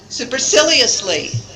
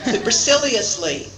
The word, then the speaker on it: superciliously: Put the emphasis in the syllables, on the syllables in blue. Let's try the last one again. Superciliously. Forget about the other syllables. You don't really need to pronounce them very much at all. So, superciliously. Try it again.